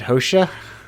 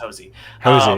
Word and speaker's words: Hosea: Is it Hosha? No, that was very close though. Okay, it's very close. It's just Hosey.